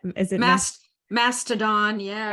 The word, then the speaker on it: Mastodon: And actually that new platform, and I can't pronounce the name, is it Mastodon? Yeah. Mastodon.